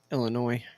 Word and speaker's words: Illinois: by the way yeah the S is silent Illinois hey uh before we